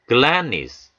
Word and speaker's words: gladness: gladness, gladness. 이 단어에서는요, A가 강세가 오고요. D 사운드를 조심해야 되겠죠. D 사운드. 그래서 gladness 하지 않고요. glad. D 사운드를 받침으로 넣으신다 생각하시고요. 역시 형용사에 NESS가 붙어서 명사를 만들어줍니다.